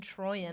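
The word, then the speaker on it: Troian: Bellisario, yep, and Troyan.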